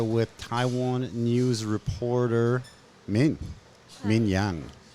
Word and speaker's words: Yang: I'm here with Taiwan news reporter Min Yang. Yang or Yang? What do we say? Yang. In Chinese, it's Yang. Yang, Yang, but right? When you pronounce it in English, it's Yang. Yeah. Yeah, So both works.